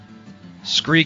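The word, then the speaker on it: Skre: Scree is spelled S-K-R-E.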